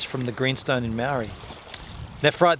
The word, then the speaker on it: nephrite: Nephrite, the PH is pronounced as F.